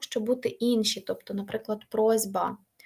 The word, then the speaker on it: просьба: бути інші тобто наприклад просьба Ось бачите с стане з але можете собі навіть